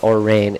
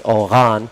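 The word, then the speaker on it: Orane: Oran Cerise, I was corrected on my pronunciation. I was told it's not Orain, it's Oran.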